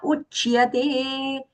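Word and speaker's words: उच्यते: Cha and ya both have to be audible. So not uchyate, uchyate.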